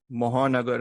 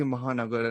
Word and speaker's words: Mahanagar: I heard Anisha's pronunciation of Mahanagar, and I was like, I say Mahanagar, and I was like, oh, okay, even that is pronounced differently.